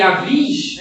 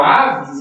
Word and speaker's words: Avis: Vale ressaltar que Avis, né, ou Aves, enfim, mais vai pronunciar Avis, tá?